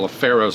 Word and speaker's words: LaFaro: evening session he points out that the correct pronunciation of Scott laf faroh's name is laf faroh and I looked up